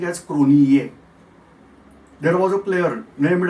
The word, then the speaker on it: Cronje: it was written as Cronje, but they were pronouncing as Cronier.